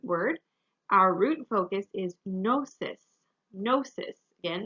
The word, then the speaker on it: gnosis: our root focus is gnosis gnosis again this is a greek word so the g is silent it's just um gnosis you need that g